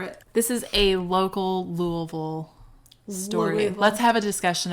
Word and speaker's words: Louisville: people but that's how that's how you say louisville don't pay attention to how it's spelled don't worry about it like for sales oh yeah don't go there